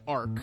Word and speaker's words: ARQ: a direct text message begging me to watch Ark on Netflix that's spelled arq AQ M and it's got um